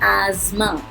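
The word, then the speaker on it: asthma: इसको बोलते हैं एज़मा. एज़मा, एज़मा. TH दोनों ही इसमें साइलेंट हैं.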